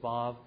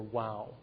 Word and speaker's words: vav: But sometimes it's spelled like this, and sometimes it's spelled like this, and it can be pronounced either as a V or a W depending upon your particular pronunciation. Okay, vav or wow.